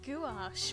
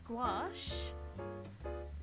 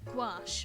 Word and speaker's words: gouache: been s right Gish I thought it was gash but then I was like wait no that doesn't sound right it's gouache gouache apparently thank you I can't